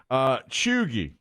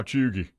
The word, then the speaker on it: cheugy: Chuggy.